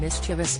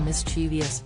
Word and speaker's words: mischievous: also vital is pronouncing mischievous as it is written not turning it to mischievous and never replacing the G